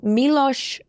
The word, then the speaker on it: Miloš: Miloš, I'm certain it's Miloš.